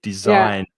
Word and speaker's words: design: sounded like champagne design design also has a silent g design and the stress is on the second syllable so design design uh the design